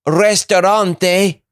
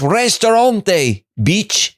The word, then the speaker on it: restaurante: If that man mispronounces restaurante, I'm going to kill myself. I'm tired of him. He keeps saying restaurant. It's restaurante, Oh, I'm feeling tired.